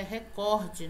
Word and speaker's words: recorde: na interter entreter recorde outra palavra que a pronúncia é recorde na palavra não é e proparoxítona é paroxítona